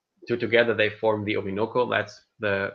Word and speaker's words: Orinoco: or they form two together they form the obinoko that's the correct way to say it and